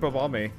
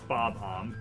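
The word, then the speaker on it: Bob-omb: Yeah, it is pretty King Bombi. It's not Bomb. It's Bob. Bye.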